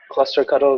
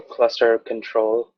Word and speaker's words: clusterctl: the issue for that cluster cuddle 1 or cluster control however you want to pronounce it Chris was a close